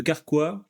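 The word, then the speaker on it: Karkwa: ou et ben en musique je parlerai de carqua que j'ai interviewé récemment et Don don je suis en train de faire une petite BD sur le parcours carqua c'est un group un groupe québécois ok qui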